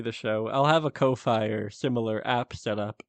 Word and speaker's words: Ko-fi: show, I'll have a Ko-Fi or similar app set up for it by the time of release. I think it's supposed to pronounce coffee because it's like supposed to be buy me a coffee.